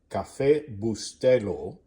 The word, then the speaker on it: Cafecito: This morning we are using Cafecito, which is how it is pronounced.